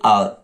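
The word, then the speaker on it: hour: एन और, एन आवर, और आप जानते हो आप जैसे कि एच इसमें साइलेंट होता है, इसलिए आवर, हावर नहीं आवर, तो एन आवर।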